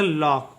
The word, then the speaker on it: lock: तो देखिए इसमें सी जो है के पहले आया है, इसलिए सी का कोई उच्चारण नहीं होगा।